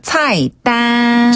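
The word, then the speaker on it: 菜单: 차단 발음하실 때는요. 차이는 위에서 아래로 차이나게 해 주셔야 돼요. 예. 차이나게. 그다음 딴 딴 그렇죠. 다시 한번 차이 땅 차이땅.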